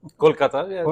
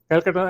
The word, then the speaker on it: Kolkata: He was born in Kolkata. I would that's what I would say but they call it differently now Kolkata that's the actual present I mean in native pronunciation yeah Kolkata and uh he graduated